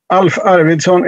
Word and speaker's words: Alf Arvidsson: yours number one unmute alf arvidsson is how i pronounce my name and my take on